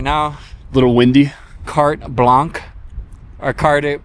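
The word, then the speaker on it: carte blanche: got Adam with us right now little windy cart Blanc or card how do you pronounce it cart blanch cart blanch yeah so the wind should should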